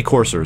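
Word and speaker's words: Courser: the the corser and they did say corser so apparently that is the right way to say it AAW running a little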